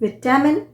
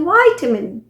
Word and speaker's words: vitamin: आपने सुना होगा कि कुछ लोग बोलते हैं विटामिन और कुछ बोलते हैं वाइटामिन। वाइटामिन। सो विटामिन जो है वो है ब्रिटिश प्रोनाउंसिएशन, जबकि वाइटामिन ये हुआ अमेरिकन प्रोनाउंसिएशन।